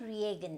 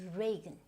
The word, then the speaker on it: Reagan: Now this is not Reagan, it's Reagan. Ronald Reagan. So which means you do not have to go with this E sound.